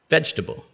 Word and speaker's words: vegetable: you might expect for but it's actually pronounced just three vegetable okay and now do